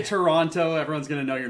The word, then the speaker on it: Toronto: actually go silent it's it's a silent T Toronto at least that's what